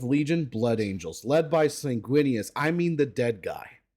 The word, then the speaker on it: Sanguinius: And then the 11th Legion, Blood Angels, led by Sanguinius. I mean, the dead guy. Wait, Blood Angels are led by who? Bro, don't say his name again. It's Sanguinius.